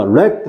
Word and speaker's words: wreck: homes, 쓸어버렸고, 자, wrecked 났습니다. 그죠? 여러분 잘 보세요. 아유, wreck이죠, wreck. 자, 이 렉이라는 단어 볼게요. 이 W 발음 안 되는데 잘 드세요.